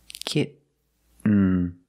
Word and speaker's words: kitten: When you make the stop T, the tongue is up, almost in the N position, so you don't have to change much. Kitten. Kitten. But don't say kitten. I cannot pronounce these T's as a fast D. I cannot say kitten. It's kitten, or more commonly, kitten.